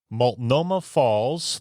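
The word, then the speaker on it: Multnomah Falls: off of Route 101 awesome next number Seven maltoma Falls 30 minutes from Portland and 3 and 1 half hours from Seattle you nailed it man you got that pronunciation uh nailed yep malt Noma Falls uh I I believe that it's the tallest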